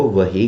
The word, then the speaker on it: وحی: ہاں، اصل تلفظ ہے وحیٌ. کیا ہے؟ وحیٌ. ہاں، لیکن چونکہ ہم پنجابی لوگ ہیں تو ہم تیزی میں اس کو وحیٌ کہنے کی بجائے وحی کہہ دیتے ہیں.